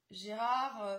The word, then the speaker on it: Gerhard: Son nom est Gerhard Ulrich, Gérard Ulrich pour la prononciation en français.